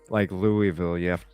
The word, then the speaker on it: Louisville: It's like Louisville. I found you have to say it like you have a mouthful of marbles.